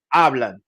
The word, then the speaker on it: hablan: Hablan. Excelente. Javier y Joaquín hablan por teléfono. Remember that all H's are silent in the Spanish language. We just pronounce the vowel that follows it.